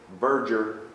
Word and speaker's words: verdure: How do we pronounce it? Verdure. And it means?